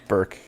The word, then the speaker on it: Burke: Burke. Burke, no E. Okay. There is an E. Or no E pronunciation.